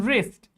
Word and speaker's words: wrist: wrong W R O N G Now here to W comes before R in wrist like wrist watch. W comes before R and wrap W comes before R in all these words, W is silent.